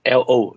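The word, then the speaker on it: לא: term is taught uh pronunciation is lo no so similar to our english no fee no no no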